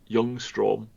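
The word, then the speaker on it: Ljungström: I think the L at the start is silent. Youngstrom.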